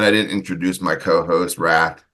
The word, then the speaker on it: Rath: And I didn't introduce my co-host, Wrath. He's Wrath. It's spelled R-A-T-H, which is not how you spell Wrath.